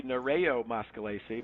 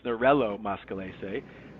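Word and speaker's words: Nerello Mascalese: So in Spanish it would be Naro Moscalce but it is in in Italian it's Nurell Moscalce as I learned and um and that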